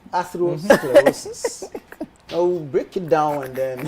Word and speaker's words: atherosclerosis: Atherosclerosis. Athero what? Sclerosis. Atherosclerosis. But sclerosis is the easy part. Atherosclerosis.